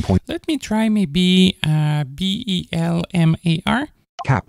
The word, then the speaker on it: Bellemare: Bellemare. Yeah, this is mispronounced. So I'd like to pronounce it Belmar.